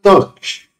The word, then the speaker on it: Dockge: it hasn't interesting name the developer has recommended that we pronounce this program like Dodge so we will call it Doge it gives the name